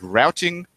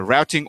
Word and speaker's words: routing: and that is that routing is excessively silent now routing or routing depending on whether you prefer the American or British pronunciations refer - how single-page